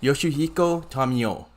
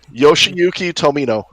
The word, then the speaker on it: Yoshiyuki Tomino: and everything, and also Yoshihiko Tamio. So Hopefully, by all means, I did not butcher that. I'm so sorry. You definitely butchered it. I'm sorry. How do you say it, Sean? Sean, Yoshiyuki Tomino.